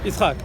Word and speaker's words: Yitzchak: Yitzchak.